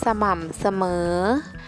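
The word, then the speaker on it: สม่ำเสมอ: เสมอ ลง ไป ค่ะ สม่ำ เสมอ สอเสือ เป็น อักษร นำ ออก เสียง อะ กึ่ง เสียง พยางค์ ที่ สอง เหมือน มี หอ นำ หอ มอ อะ มะ เอก หม่ำ หอม ออม เอ่อ เหรอ เออ สม่ำ เสมอ ข้อ สอง ถึง ข้อ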